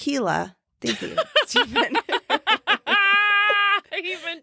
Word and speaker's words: Gila: A few years ago, I went on a solo motorcycle trip to the Gila Wilderness. Oh, pronounced Gila.